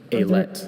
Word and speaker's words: alet: Are there any alternate pronunciations? Just the one. Alet.